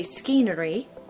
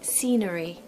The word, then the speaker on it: scenery: the wall so we're not going to say skenery we're going to say scenery scenery here we have a classic example of